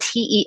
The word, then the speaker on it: telomeres: So telomeres, which are spelled Telomeres, pronounced telomeres.